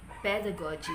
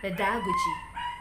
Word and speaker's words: pedagogy: is true with pedagogy pedagogy before i pronounce this as pedagogy but the correct pronunciation is pedagogy pedagogy the primary stress lies in the first component pedagogy how many syllables